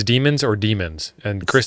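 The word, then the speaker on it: daemon: if it's demons or demons and Chris the answer is yes to the second one but pronounced like the first one because we're smart yep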